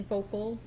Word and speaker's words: Voelkle: Can you please state your full name and spell it for the record? Vogel.